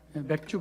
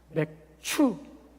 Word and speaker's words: 맥추: 발음 잘해야 돼. 맥주 감사 주일이 아니라 맥추 감사 주일.